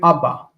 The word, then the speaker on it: Abba: So you just say Abba. Abba. Okay. It is doubled, but don't pronounce it as doubled.